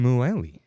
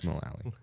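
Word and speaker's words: Mullally: dude well all right to megan muelley i know it's mulally right close enough hmm all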